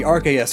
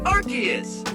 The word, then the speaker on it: Arceus: This is the trailer for the Arceus and the Jewel of Life Pokemon movie, and the narrator pronounces it as Arceus Awakens.